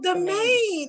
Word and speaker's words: Damien: we have damien it's damien right damien right duh yeah two syllables dub main domain oh domain i was saying damien all this time oh domain okay domain moved to madagi